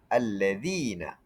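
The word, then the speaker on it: الَّذِينَ: Lam tidak dibaca, huruf selepasnya ditasydidkan. Contoh, allazina. Cara baca lam tidak disebut tapi zal yang ditasdidkan.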